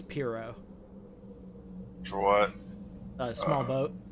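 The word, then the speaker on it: pirogue: Cuz of that whack ass pseudo French pronunciation.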